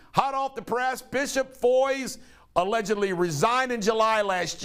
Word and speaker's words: Foy: I think I am personally responsible for Bishop Foy's resignation because all the things that I've blown the whistle on about him. Bishop Foy's rhymes with boys.